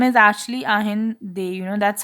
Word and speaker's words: Allende: Salvador, pronounced Ainde, Inde, Ainde, Ahinde. So his name is actually Ahinde. That's how it's pronounced. Ahinde. No, it's not Allende.